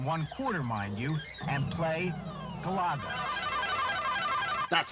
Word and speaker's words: Galaga: 2.5 hours, on 1/4, mind you, and play Galaga. That's how it's pronounced.